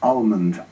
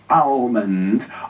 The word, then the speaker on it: Almond: Almond.